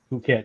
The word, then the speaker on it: Phuket: Is that how you pronounce it? Phuket, yes.